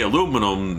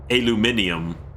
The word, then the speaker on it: aluminum: If more people say aluminum than aluminium, then aluminum is correct.